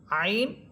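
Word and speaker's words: عين: আইন এটা নরম হরফ। এটাকে নরমাল ভাবে নরম করে পড়বেন।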